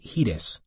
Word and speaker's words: HEDIS: data and information set hedis pronounced hedis there are also organizations